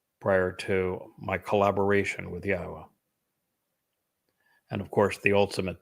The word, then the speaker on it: Yahweh: I'm the first to correctly not only pronounce Yahweh's name, but to prove that the pronunciation of his name as Yahweh is accurate and reintroduce you to your God.